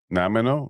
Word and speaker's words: Nanaimo: I I know the the dessert. No. Is it the dessert? I think so. Yes, the same spelling as then was it Nanaimo bars.